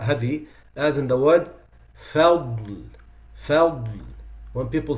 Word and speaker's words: فضل: So some people say بنعمة من الله وفضل. فضل is wrong. فضل, فضل. That's the right pronunciation.